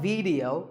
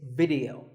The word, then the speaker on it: video: watching right now video the important thing is that both the I and the E are pronounced as short if sounds it's not video it's video if you watch a